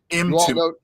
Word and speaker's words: Mtume: Mtume, Mtumee, Mtumay, but um Mtume. It Mtume, almost like almost like into me.